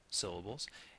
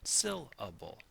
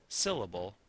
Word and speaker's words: syllable: have made a mistake syllable not syllable or syllable but syllable that emphasis right here on that first syllable makes a beat beat